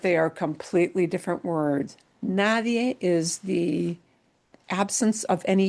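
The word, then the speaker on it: nadie: But it is spelled N A D I E. So, this is one of those situations where when you pronounce a word, you've got to be really careful when you pronounce this because they're completely different vocab words.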